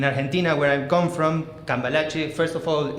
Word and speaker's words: Cambalache: like a year ago um so yeah so calache that's how it's pronounced I'm sorry I know it's a little